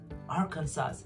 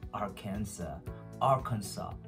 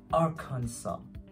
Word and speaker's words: Arkansas: Well, in the following videos, you will be noticing that I was saying like Arkansas. Well, I'm correcting myself. It pronounced like really Arkansas. How do you say it again? Arkansas.